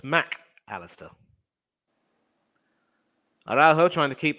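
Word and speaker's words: Mac Allister: Argentina and that's why whenever he writes his name the mac and the Alistar are separated so his name is officially pronounced Mack Alistair I'd also trying to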